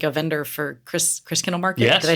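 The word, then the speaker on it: Christkindl Market: necessarily, but like a vendor for Chris Kindle Market.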